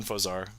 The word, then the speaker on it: Infoaxzar: We call him Infosar. The X is silent.